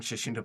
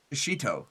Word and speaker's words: shishito: There's no N. So it's it's shishinto or shashin shishito. Shashito shishito.